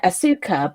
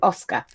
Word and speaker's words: Asuka: And then we move on to episode 8, which is, right, it's written Asuka, but it's pronounced Asuka.